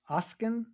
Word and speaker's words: Oskin: I'm here with Ocen. Is that how you pronounce it?